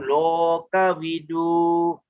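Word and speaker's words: lokavidū: O is always long, loka vidu. Okay, U is a long U there, loka vidu.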